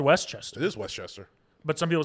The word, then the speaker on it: Westchester: He said the second pronunciation is Westchester, like opposite of East, and then the name Chester, like the Cheeto mascot.